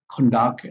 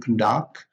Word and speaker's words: conduct: is the same but the stress is on the first syllable for a noun and for a verb the stress is on the second syllable and we have this